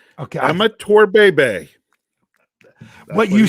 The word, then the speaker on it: Bhebhe: Garrett Slingerland told he gave you the pronunciation. Okay. Amateur Bebe.